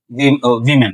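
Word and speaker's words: woman: इसमें एक वर्ड है वीमेन, तो जब ये प्लूरल फॉर्म में होगा इसको हम वीमेन प्रोनाउंस करेंगे, और जब ये सिंगुलर फॉर्म में होगा इसको हम पढ़ेंगे वुमेन वुमेन।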